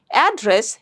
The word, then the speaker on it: address: So that is a noun and it has two syllables. So you'll stress on the first syllable, address.